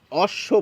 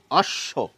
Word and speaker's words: অশ্ব: কেন আসছে বলুন তো ব ফলা যদি শব্দের শেষে বা মাঝে থাকে তাহলে যার সঙ্গে যুক্ত থাকে সেটি ডাবল উচ্চারিত হয় আমাদের মুখে আমরা বলি অশ্ব দেখুন অশ্ব একইভাবে দেখুন